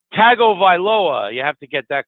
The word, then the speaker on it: Tagovailoa: It's Tagovailoa.